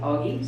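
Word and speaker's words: Aage: And Augie is spelled A-A-G-E, but you pronounce it Augie. So that, at least in the United States, that's how we pronounce it.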